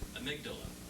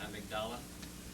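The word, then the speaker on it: amygdala: brain and the uh amydala I don't pronounce that right amigdala that's how you pronounce it this Rapture happens Cosmic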